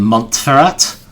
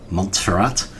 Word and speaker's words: Montferrat: Two of them, the ones we just got back, Ferrara and Montferrat, I always want to pronounce that French style, but I guess cuz we're in Germany, it should be Montferrat.